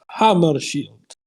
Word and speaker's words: Hammarskjöld: zinke named me my family name is hammershield it's spelled differently than it is pronounced interesting it is always